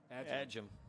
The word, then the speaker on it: Adjam: Looks like that was a sweep to Ryan Adjam. Adjam. That's the way Mr. Gaffney's pronouncing it.